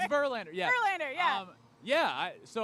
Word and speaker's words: Verlander: sirlander last name uh it Rhymes oh oh it's Verlander yeah um yeah I